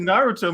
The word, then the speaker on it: Naruto: Casting for live action Naruto movie underway.